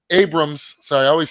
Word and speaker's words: Abrams: uh scheduled for right now I'm about JJ Abram Abrams so I always say his last name wrong Oh justice Justice League dark that they